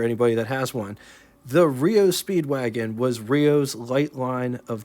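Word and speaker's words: REO Speed Wagon: In 1915, the legendary Rio Speedwagon first appeared, not to get confused with the band by the same name, but they pronounced theirs REO Speedwagon.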